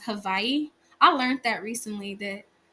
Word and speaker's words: Hawaii: So, I was picking up Indonesia, Peru, Argentina, Chile, Portugal, and Spain, France, Southeast Asia, and Hawaii, but it's pronounced Havaii.